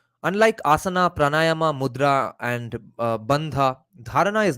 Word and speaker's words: bandha: Asana pranayama mudra and b-a-n-d-h-a is it supposed to be pronounced as badha that would be the Bengali pronunciation I guess or bandha or bandha so even the dharanas